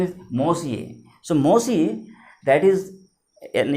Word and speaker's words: Monsieur: Again, mind the pronunciation. M-O-N-S-I-E-U-R. Its pronunciation is Monsieur.